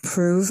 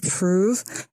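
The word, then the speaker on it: Proov: they're having fertility issues the correct name is proof again it's proof and you can go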